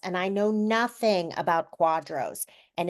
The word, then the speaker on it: QDRO: stand for and then what is it so Quadro is spelled it's all caps and it's just an